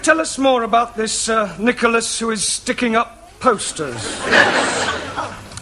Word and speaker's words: Nicholas: upon a time there was a man called nickel us once upon a time there was a woman called nickel it's pronounced Nicholas sorry once upon a time there was a